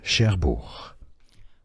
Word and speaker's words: Cherbourg: Pronounced as Cherbourg.